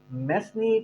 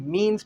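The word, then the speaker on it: mesne: इसको अक्सर मेसनी प्रॉफिट, लेकिन वर्ड प्रोनाउंसिएशन क्या है? मीन्स profit.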